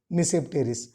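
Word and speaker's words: Tmesipteris: Okay, here T is silent, Mesopteris.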